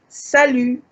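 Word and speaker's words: salut: bonjour you can also say salu the t is is high this is informal so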